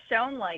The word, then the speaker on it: Schoen: Now, Schoen, am I pronouncing that right? Schoen, is that correct? Yes, shown as shown here in this example.